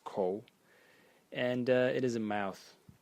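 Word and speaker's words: 口: And the semantic element in it is this part over here, which is pronounced ko, and it is a mouth.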